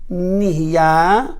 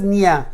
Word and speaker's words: נהיה: Niya. Many people says niya. Shakol niya. מה זה נהיה? nun yud hey? Niya? Nihya. You're missing one letter.